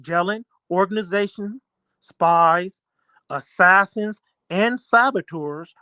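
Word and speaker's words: Gehlen: warfare experts in which jelen pronounced jellen organization spies assassins and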